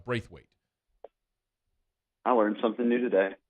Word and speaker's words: Braithwaite: It's Braithwaite.